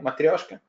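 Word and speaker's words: матрёшка: was was it - Russian accent no material can you say it like me matryoshka well if yes sir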